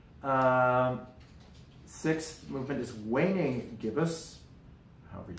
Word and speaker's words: gibbous: I think it's Gibbous, like a gibbon, but it's not a given. Let's see. So the fifth movement is called Full Moon. Sixth movement is Waning Gibbous, however you say that.